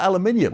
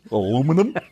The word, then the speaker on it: aluminium: not fair because yes they call it aluminium because it's a scientific name there is one country in the entire world that missed I you dropped an i you went Ah that's too many syllables aluminum alum sodium potassium